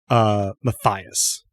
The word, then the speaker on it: Matthias: And I'm realizing now that I had mispronounced it because I knew a German person named Matthias. It should be Matthias.